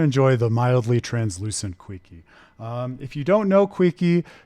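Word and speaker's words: Keele: Some people say Quickie, and that's not just people in the community, that's people in the game.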